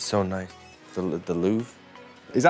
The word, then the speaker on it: Louvre: The Louvre? Is that how you say it? Louvre. How do you say it? Louvre. The Louvre. Louvre. It's French. The Louvre.